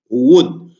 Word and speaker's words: would: Cuando vean esta combinación de grafemas O-U-L-D, lo vamos a pronunciar ud.